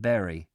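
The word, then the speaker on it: Bury: for the almighty dollar people in Bari pronounce it Barry like just like the rest of us it's funny because some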